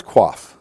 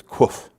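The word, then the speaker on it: קוף: Here's quaf. which also has the sound, and actually it's kuf. It's the sound of K in kangaroo, but it's, again, rhymes with roof.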